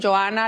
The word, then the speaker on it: Johana: a la semana porque mi nombre se escribe J O h. Entonces lo pronunciamos Johana, la H es muda, ¿verdad?